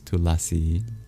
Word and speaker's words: Tulasi: in Hindi and otherwah deleted Indian languages it's pronounced tulsi but in Sanskrit it's tulasi in uh in English it's holy basil.